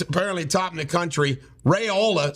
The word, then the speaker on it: Raiola: top in the country rayola sounds rhymes with areola is going to it's